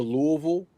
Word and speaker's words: Louisville: I just say 2 syllables, Louisville.